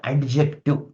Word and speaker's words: adjective: D is silent here. So there is no need to pronounce. It is not adjective.